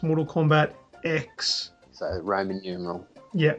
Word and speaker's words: Mortal Kombat X: spell it phonetically it's it's just an x the letter X but yeah SP that's